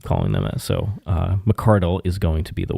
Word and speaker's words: McCardell: Now, he told us his name is McCardell McCardle.